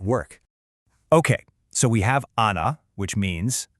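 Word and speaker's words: أنا: The word for I in Arabic is ana. Pretty simple, right? Sounds just like it's spelled.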